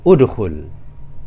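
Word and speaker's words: ادخل: Nah, jika huruf ketiga berharokat dhammah, maka hamzah wasalnya kita baca dhammah juga. sehingga kita membacanya udkhul.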